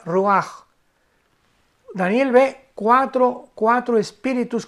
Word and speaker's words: ruach: la palabra hebrea roaj, que se escribe r u a c h. Ruach, pero se pronuncia Ruaj.